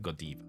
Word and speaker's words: Godiva: both okay yes but in Belgium if you want to be very precise in Belgium they pronounce it goiv okay okay okay to